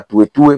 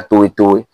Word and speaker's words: Tuwetuwe: Bamususu basenga balobaka Toetoe, mais na kati ya prononciation ya monoko ya Kibembe ezalaka Toetoe.